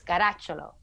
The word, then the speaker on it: Caracciolo: Alessia If you want to say it the real Italian way, it's Caracciolo. Oh, look at that.